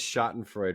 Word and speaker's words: Schadenfreude: I've I've got this Schadenfreude, right? Is that how you pronounce the German Yes.